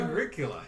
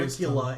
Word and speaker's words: Agricola: But I got Agricola, and that is so much of a better game.